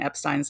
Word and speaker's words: Epstein: to correctly pronounce Brian Epstein's last name and yes it is Epstein it is notep that is the one